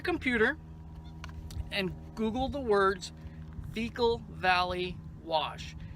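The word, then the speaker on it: Vekol: Now, if you get on your computer and Google the words Veekal Valley Wash. Veekal is spelled V-E-K-O-L.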